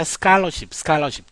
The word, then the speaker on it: scholarship: 여러분, 요 부분이 칼이 아니고 깔로 발음됩니다. scholarship.